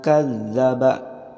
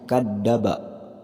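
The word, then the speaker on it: كذبا: tiga harokat Wallace Den kadzaba walakin nyangka dzabana sini juga ada toko pelayan harokat tasydid nah cara bacanya kadzabat kan zabar Jangan sampai membacanya kadaba Jadi huruf da harusnya zat kadzaba selanjutnya watawalla jangan sampai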